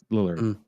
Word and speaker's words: Lillard: talking about Victor timley Shaggy Matthew lard yeah Lillard Lillard is it really yeah have I just been pronouncing his name wrong this entire time yeah